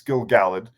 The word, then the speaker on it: Gil-galad: It's Gil-galad and Celebrimbor be really stupid and really without honor and contrived.